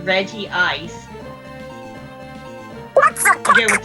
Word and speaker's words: Regice: Or they just leave the name untranslated despite it being pronounced in English. It is in other places in the anime referred to as Regice as it is written. But like, yeah, Regi Ice.